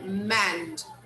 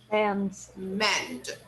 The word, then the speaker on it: manned: The American Apollo 11 was the first manned spacecraft to land on the moon. Pay attention. Just a second. Say again. Manned. Manned. We don't pronounce this vowel here. Okay? We never pronounce that. So manned.